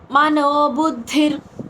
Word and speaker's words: మనోబుద్ధిర్: మయ్య య కింద య వత్తు మయ్యర్పిత మయ్యర్పిత మయ్యర్పిత మనోబుద్ధిర్ మనోబుద్ధిర్ మనోబుద్ధిర్ మయ్యర్పిత మనోబుద్ధిర్ బుద్ధి కింద మహాప్రాణక్షరం ధిస్ట పలకాలి అక్కడ విసర్గ ఉచ్చారణ పొల్లు రా కింద పలుకుతాం.